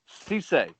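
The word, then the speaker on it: Cissé: He's hearing Vols are deep in it for Chandler and I guess it's how do you pronounce it? Musa Cisse. Cisse.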